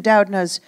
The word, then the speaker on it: Doudna: And you studied in Doudna's group, Sam.